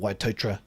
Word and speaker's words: Waitotara: a similar one with a place called waitotara oh yeah yeah which is called waitotra you know it's not cool it's that but it's uh yeah that's how the locals uh pronounce it yeah of course yeah